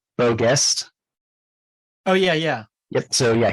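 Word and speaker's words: Beau Geste: Don Levy was nominated for, I haven't seen it, but am I pronouncing this right? Beau Guest?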